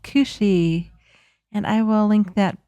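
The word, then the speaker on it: cù-sìth: that up and it's spelled c u s i t h but it is it is pronounced cushi and I will link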